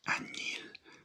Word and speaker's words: añil: But there's another word for indigo, and that is añil, añil, añil, añil. And you spell it A-Ñ. That's the N with the squiggly line. A-Ñ. I-L.